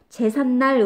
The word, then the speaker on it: 제삿날: 날 로 발음한 거에요 제삿날 일하는거 제사라는 한잠 아리랑 날이 결합된 거거든요 뒤에 있는 날 미운 으로 시작한 말이죠 발음할 때 근데 어떻게 해요 제삿날 론이 은 소리가 덧나 딱 말이에요 요렇게 리앤 소리가